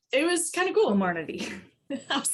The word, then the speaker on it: Comirnaty: will now be called, I'm going to say it wrong, Comirnaty. Comirnaty? I wrote it down. So it's, yes, Comirnaty. Comirnaty.